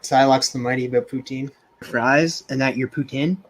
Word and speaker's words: poutine: Silox the Mighty about poutine. Fries and that your poutine. Oh my god, it's next level shit, man. So that's how you say you pronounce it, Putin? Poutine. Poutine.